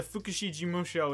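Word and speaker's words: 福祉事務所: The reason why I always say Fukushi Jimusho is because the Fukushi Jimusho is like the correct way to say it.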